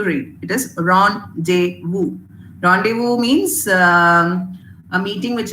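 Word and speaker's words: rendezvous: basic tendency to read it is Rond deu randevu means um a meeting which is pre-arranged one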